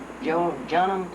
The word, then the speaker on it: Jean: yeah, it's not Jean, it's Jean. Jean Baptiste, or something like that. It's John. It's the English pronunciation.